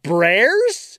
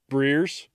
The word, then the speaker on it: Brears: Brears? Is it Bears with an extra R?